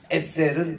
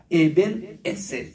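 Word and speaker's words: עזר: 말이 그 돌이란 말입니다 에셀은 도랍니다에 에셀 렇게 액센트 넣어야 됩니다 그런 식으로 여기도 보면 에셀 여기 엑센트가 있어요 에셀 네도 이렇게 말씀하고 있고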